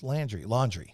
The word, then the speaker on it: Laundrie: I can't wait till he shows up so I can figure out how to pronounce his last name. It's Laundrie.